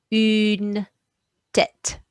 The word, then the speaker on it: une tête: So that's going to make that sound, and anything in grey is silent. So that one is une tête.